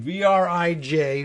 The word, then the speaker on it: vrij: But that is Vrij, I think. I'm getting close here on the screen. Vrij, like free.